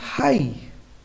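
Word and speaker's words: high: पढ़ेंगे lesson word की last में ग या जीटी ह आई तो वहां जी है साइलेंट रहता है चलिए एग्जांपल समझते हैं यहां भी ग ए रहा है ओके तो हमारा ग क्या रहेगा साइलेंट तो हम इसे क्या पढ़ेंगे हाई साई मेंस आ भरना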